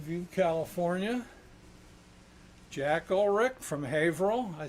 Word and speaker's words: Haverhill: buddy from Mountain View California Jack Ulrich from Haverhill I said it right didn't I Haverhill yeah from back Becky Michael Arthur our good